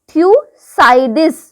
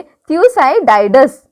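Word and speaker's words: Thucydides: Managed history था थ्यूसाइडिस। Okay, थ्यूसाइडिस। Okay, देखो अब प्रोनाउंसिएशन क्या है, ओके देख लेना तुम लोग। ओके, थ्यूसाइडाइडस।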